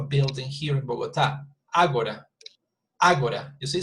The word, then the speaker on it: Agora: Agora, you see, so Agora would be here because the accent, I know, actually would be here because it's 3 syllables and the stress is at the beginning, Agora, you see?